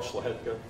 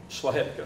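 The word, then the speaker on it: Szlachetka: My name is Schlahetka. This is just housekeeping issue. I didn't get the last name. Schlahetka.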